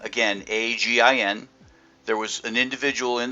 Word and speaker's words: Agin: introduced me as Agin. Mispronounced the name. It's Agin, hard G.